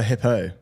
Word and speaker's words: Hippeau: Yeah, I can't pronounce that second one. HIPPEAU. Lura Hippo.